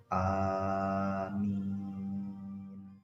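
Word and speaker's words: آمين: Amin setelah suratul Fatihah cara membacanya Gimana cara membacanya hamzahnya itu dibaca panjang begitu pula dengan meme-meme itu dibaca panjang walaupun tottoli Amin demikian membawa alam Wassalamualaikum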